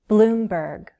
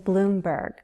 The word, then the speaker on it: Bloomberg: Both those last names have consonant blends, 2 consonant sounds together. ST in Steyer, BL in Bloomberg. And note the pattern. Most 2-syllable last names have stress on the first syllable. Steyer, Bloomberg.